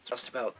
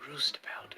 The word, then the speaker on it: roustabout: out old channel mistakes, I mispronounced roustabout once in the video about eclipse, the solar eclipse. pretty confident that it's roustabout. Then I'm like, nah, it's probably roostabout, and so that's how I pronounced it.